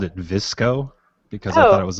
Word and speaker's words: VSCO: visual supply company so i guess vsco is is the better pronunciation of that yeah i guess so